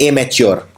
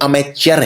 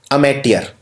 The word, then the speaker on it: amateur: अब एमेचर में लोग इसको लिख देते हैं एमेच्योर, कि भाई ये तो एमेच्योर है। ये एमेच्योर नहीं है, ये अमेचर है। स्पेलिंग देखिए ध्यान से, पहले लिखिए अमेट, फिर लिखिए ईयर, अमेटियर। तो ये है अमेटियर, AMATEUR।